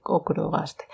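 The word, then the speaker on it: ochrogaster: Estoy mirando, es que es ocro, pero con CH. Pero yo creo que se dice ocrogaster.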